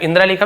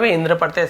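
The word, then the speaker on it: Indra: यानी इंद्र के खिलाफ इंद्रा लिखा इंद्र पढ़ते रामा कृष्णा तो राम कृष्ण वैसे ही इंद्र के विरुद्ध इंद्र के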